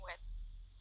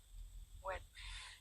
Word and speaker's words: Nguyệt: No, it's pronounced Nguyệt. Nuet. Nguyệt.